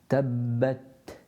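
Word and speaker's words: تبت: Tabbat, tabbat, tabbat. And again with the ba, don't take your lips in. It's just closing of the lips and then reciting the ba.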